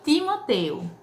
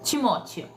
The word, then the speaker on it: Timóteo: Não chama Timoteu. Aqui você pronuncia Timóteo.